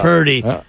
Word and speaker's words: Purdy: like the fact that his name rhymes with turdy, so that's why he's not very good.